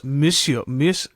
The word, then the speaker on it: monsieur: Monsieur Charrier. Monsieur. I love it. It sounds almost rude. Monsieur Malquin. Monsieur. It's like M-I-S or M-O-S? M-O. Oh, yeah, M-O, but we pronounce M.